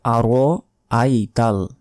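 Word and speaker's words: أَرَأَيْتَ: দেখুন একটা শব্দ শব্দ একটাই, কিন্তু মাঝখানের এই হামজার উচ্চারণ আমরা করি না, বলি যে আরাইতা। আরাইতা বললে যে মাঝখানের যে হামজা জবর আ আছে এটার উচ্চারণ কিন্তু বাদ পড়ে গেল, তখন আমাদের অর্থ পরিবর্তন হয়ে যাবে, তখন আমাদের গুনাহ হবে।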